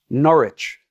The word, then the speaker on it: Norwich: I spent um and I'm going to say it correct this time. Norwich. Did I say it correctly? I've dropped the W.